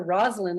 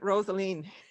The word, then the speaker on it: Rosaline: Okay, I'm going to say, I was calling her Rosaline until a reporter from the Equity called me and he called her Rosalind. I said, oh, I was using the wrong pronunciation all this time. No, I'm sorry. I don't know who that would have been, but no, he's a definite Rosaline. Say it like it is.